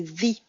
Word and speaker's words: the: Autre chose sur la prononciation, quand vous avez un mot qui commence par une voyelle, on revient aux questions des voyelles tout à l'heure, le the va se prononcer the. Vous allez dire the elephant.